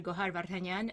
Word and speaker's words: Gohar: so nice to hear to like to hear gohan and not like i make it easy to pronounce because once they see with the